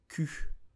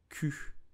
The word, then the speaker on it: cul: So you will say cul, Un Q. Do not pronounce the L at the end. It's totally silent. So do not say cul, but just Q.